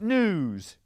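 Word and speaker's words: gnus: Super 8 for 10 points let's look at another picture these news g-n-u-s the g is silent that migrate across Africa's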